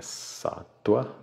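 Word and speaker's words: sattva: três satua não é satva é satua satua quanto mais antigo sânscrito mais o vá tem som de w tá a minha professora de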